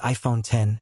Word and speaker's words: iPhone X: The iPhone X, pronounced iPhone 10, was released in 2017 to celebrate the 10th anniversary of the iPhone.